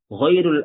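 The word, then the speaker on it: غيرُ: seorang pun, ghairul akhyari, ya ini dibacanya ghairu, kecuali oleh orang-orang yang baik, orang-orang pilihan. Tidak ada yang mengunjungiku kecuali orang-orang pilihan. Nah, di sini dibaca ghairu. Kenapa ghairu? Karena dia marfu'nya, hukumnya mengikuti ini. Ahadun.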